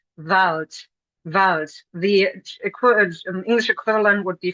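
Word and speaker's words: Wald: Take for example the German word vault. Vault. Vault. The equivalent would be forest. Vault is actually written with a D in German, but we pronounce this with a T.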